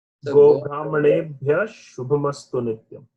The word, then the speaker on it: शुभमस्तु: So that Go Brahmanebhyah Shubha, there the Sha is doubled. So there you should not use the F pronunciation. F only when it is followed by a P, Pa, Pakara. So here the Sha gets doubled.